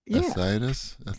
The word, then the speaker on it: fasciitis: I don't think that's how you say it, is it? Yeah. Fasciitis? Fasciitis. That's how the doctor said it, I think.